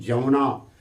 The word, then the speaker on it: यमुना: लिखते हैं यमुना, पढ़ते हैं जमुना, लिखते हैं यज्ञ, पढ़ते हैं जग, लिखते हैं यगोपवित, पढ़ते हैं जगोपवित।